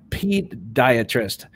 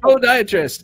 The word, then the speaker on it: podiatrist: I think it's spelled pediatrist. No, Todd, it's actually Poe. Podiatrist. Pediatric, perhaps, is maybe what you're thinking.